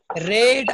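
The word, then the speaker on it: read: পড়ছো তাহলে রাম হ্যাজ রেড আ বুক এটার উচ্চারণটা আর ই ডি এর মতো রেড কিন্তু বানানটা একই থাকবে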